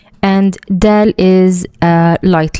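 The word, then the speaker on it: دال: Next letter is dal. And dal is a light letter. And it's very similar to the letter D in the word door or doll.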